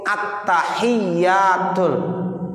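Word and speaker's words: التحيات: At-tahiyyatul. Itu tasdid-tasdidnya harus benar. Kalau seandainya kita baca at-tahiyyatul, at-tahiyyatul, ya itu at-tahiyyatul salah. At-tahiyyatul mubarakatus sholawatut. Itu tuh mesti tasdidnya harus benar.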